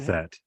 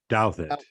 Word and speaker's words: Douthat: Ross, how do you pronounce his name? It's Anyways, you have. Douthat. Douthat.